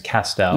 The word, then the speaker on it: Castell: my last name is castell yes and i've told you this it rhymes with pastel and my great grandfather